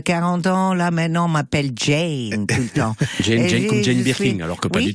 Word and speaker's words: Jeane: m'avez repris l'autre fois c'est la prononciation de votre prénom Jane oui Jane tonic je peux vous